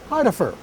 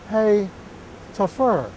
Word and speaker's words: Hitaffer: The word Hitaffer appears on the map, for instance, a German name, which I would call Heidefer. But he tells us in a little note that here it is pronounced Hey Tafur.